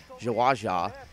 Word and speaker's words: JwaJa: going to be between Flash and jaaja is how his name is pronounced but for uh commentating